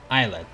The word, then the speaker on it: islet: He kept calling it islet. Is that the correct pronunciation though? Because Google says islet. Islet.